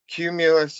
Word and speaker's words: Qmulus: And something worth noting is Cumulus is definitely a play on words as far as how that's spelled. It's not spelled like the cloud, Yeah.